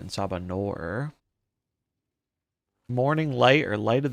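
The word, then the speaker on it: En Sabah Nur: Ensabaner. It's pronounced Ensabanor. Ensabanor.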